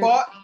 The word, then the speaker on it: Faut: What has Layla Faut or Layla Faust? How you say it? Faut, yeah. Yeah, Layla Faut.